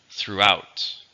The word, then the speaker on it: throughout: adverb or a preposition how many syllables do you hear throughout two syllables stresses on the second throughout malls are common